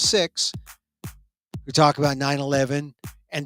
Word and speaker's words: Sikhs: Pakistanis and Sikhs talking Sikhs. I said it right. They call themselves Sikhs.